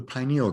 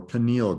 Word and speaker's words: pineal: grain of rice and it's called the pineal gland or pineal gland both pronunciations are correct that pineal gland is